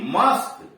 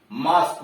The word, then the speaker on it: mosque: करा किसी शब्द में QUE आ गया है तो वहां QUE का उच्चारण क होता है। जैसे MOSQUE, मस्क, MOSQUE, मस्क, मस्क का मतलब मस्जिद। PHYSIQUE, या QUE का मतलब क, जैसे फिजिक, PHYSIQUE, फिजिक, काया।